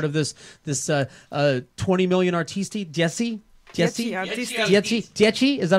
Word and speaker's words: Dieci Artisti: Dieci Artisti. Is that how you say it? You're one of the Dieci? How is it? How do you say it? Dieci Artisti. The 10 artists. 10 in Italian.